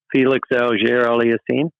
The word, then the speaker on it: Felix Auger-Aliassime: I thought with the Canadian AFF, give us that pronunciation, David. Alex. Felix Auger-Aliassime.